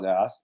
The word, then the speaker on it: Lagasse: And I think when he first started out, he didn't pronounce the E on the end of his name. He was Emeril Lagasse, and then as he became more popular, he expanded to Emeril Lagasse, which is kind of funny.